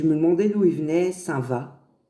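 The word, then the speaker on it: Saint-Vaast: Saint-Va. Saint-Va, ça s'écrit V2AST.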